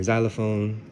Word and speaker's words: xylophone: Z, za, as in, my name, or zebra, or zenith, or xylophone, even though it's spelled with an X. It should be a Z, but you know, it is what it is.